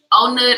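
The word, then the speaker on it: On Nut: Because, like, legit, I was staying I got to Onut, and, like, I love Onut area. If you ever come to Bangkok, I definitely believe, like, Onut is a nice place to stay. It's spelled like like Onnut, but the way they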